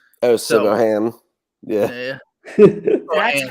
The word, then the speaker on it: Siobhan: The only Irish name I know how to say is Siobhan when it's Siobhan. Oh, Siobhan. Yeah. That's how you pronounce that?